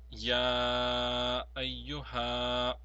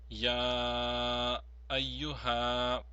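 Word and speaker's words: يا أيها: This will be pronounced as Ya ayyuha, Ya ayyuha. Please note that the Ya has been prolonged longer than the Ha.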